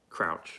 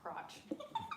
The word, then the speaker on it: Crouch: Crouch. Not crotch.